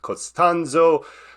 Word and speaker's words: Costanzo: I'm super excited to be here with Pete costanzo who's calling in from uh hopefully I pronounced that right but uh Pete you're calling